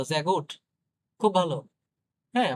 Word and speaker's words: sehr gut: sehr gut, sehr gut খুব ভালো। দেখেন দেখছেন এটা কিন্তু বর্গীয় যার মতো উচ্চারণ হচ্ছে, হ্যাঁ? এই এস টা।